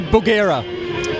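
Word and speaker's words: Bugera: amps Michael how do we say it we pronounce buera so buera is a new amp it's only been on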